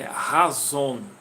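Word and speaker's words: חָזוֹן: Mais ou menos a pronúncia aí de azul é razon, certo?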